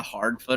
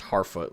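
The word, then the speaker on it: Harfoot: i think it's not it's spelled hard foot hard foot but i think it's pronounced har foot like i think you ignore the d okay fine the boner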